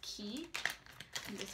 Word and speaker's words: Quay: is it's spelt Quay but it's actually some pronounce key option to sound like he's so excited is